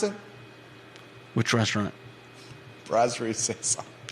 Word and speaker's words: Brasserie Saison: How do you pronounce it? Which restaurant? Brasserie Saison. Brasserie Saison.